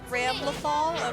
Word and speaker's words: Ramlethal: other one, Remnant, Ramelthal Ramelfall, Valentine. Valentine. Okay. That name took me a while to get down. Ramelthal. Ramlethal? It's spelled like Ram Lethal. Ramlethal?